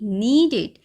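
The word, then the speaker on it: kneaded: हो ठीक है ही नीडेड this is called नीडेड यहां पर के साइलेंट है दिस वर्ड इज कॉल्ड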